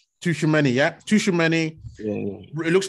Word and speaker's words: Tchouaméni: I don't even know how to pronounce his name. Tchouaméni, yeah.